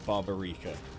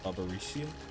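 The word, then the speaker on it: Barbariccia: It's not barbarica. Barbaricia.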